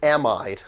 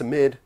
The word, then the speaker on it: amide: Very commonly mispronounced as amide. Have you ever said amide? It's not amide, it's amide.